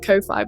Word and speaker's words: Ko-fi: Speaking of Kofi, which I am right, someone's corrected me and said it's pronounced coffee. I am going to continue pronouncing it Kofi because I feel like it saves confusion.